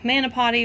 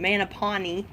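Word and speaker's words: mopani: real quick um the mana potty or grapevine and i know i say it wrong man a pawnee i believe is how it's actually pronounced but i keep saying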